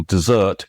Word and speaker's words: desert: Desert, the stress is on the first.